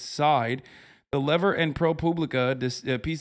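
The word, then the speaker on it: Seid: There's even some confusion over how to pronounce his last name. People who've dealt with him say it's Side.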